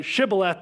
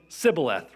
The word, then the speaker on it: shibboleth: they're pronouncing it different they couldn't say shibboleth they were saying sibileth right but it's worth